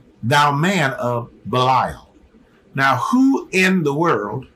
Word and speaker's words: Belial: The word I'm pronouncing, Belial, is actually pronounced Bel-Ayah-Al, okay?